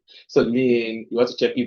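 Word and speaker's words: lien: l like l i e l but it's pronounced US l so lean you want to check if there's a lean registered against asset of the company and if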